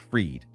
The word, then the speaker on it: Fried: So it's spelled like fried, but it's pronounced Freed.